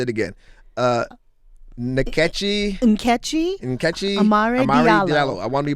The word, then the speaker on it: Nkechi: Catchy, the N is silent. Nkechi. Nkechi Amar Dalio.